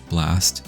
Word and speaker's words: VLAST: And they are actually under a company called VLAST, or I believe pronounced just Blast in Korean, who I found out is affiliated with MBC, which is a very big broadcasting company in Korea.